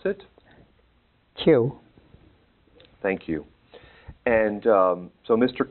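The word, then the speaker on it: Kyu: Could you say that for us, pronounce it? Q.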